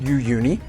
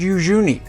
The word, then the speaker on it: Uyuni: the village of Yuni I've heard the name pronounced Yuni and Yi but I asked a local woman and she said Yuni so that is the pronunciation that I'll use